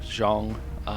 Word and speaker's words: Zhang: myth still in fatigue Zhang or I apparently have been pronouncing that wrong it's more like Zhang is pretty much spoken